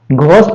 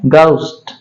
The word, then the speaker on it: ghost: घोस्ट नहीं पढ़ा जाता है। इसको पढ़ा जाता है गाउस्ट।